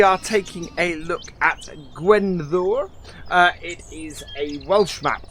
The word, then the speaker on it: Gwenddwr: I was going to call it something completely right, but I think I've got it right by calling it Gwenddwr.